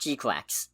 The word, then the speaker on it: GQuuuuuuX: It's pronounced GQuuuuuuX.